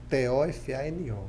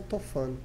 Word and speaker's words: Tofano: No Instagram é Tofano, Tofano, né? Porque é diferente a pronúncia, sim, né?